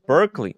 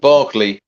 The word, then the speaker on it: Berkeley: of fine rare watches headquartered in London's uh Berkeley oh Berkeley Square that's that's literally how Marcelo mispronounces Buckley to Berkeley Square so it should it's pronounced Barkley Markley okay Barkley okay so yeah so wait